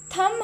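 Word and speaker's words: thumb: थम, अंगूठे को थम कहते हैं ना, तो इसमें जो है हमने थम हम पढ़ते हैं, थंब नहीं होता, ओके, तो यहाँ पर बी साइलेंट है।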